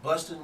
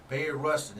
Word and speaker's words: Bayard Rustin: but they said uh Bustin was uh it was busting it was I'm saying his name wrong somebody say this again Bayard rusted Bayard Rustin it says Ruston is